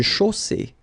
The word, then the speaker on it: chaussée: Une chaussée. Okay, here, final not pronounced. And then you get the double S between two vowels, so it's really strong.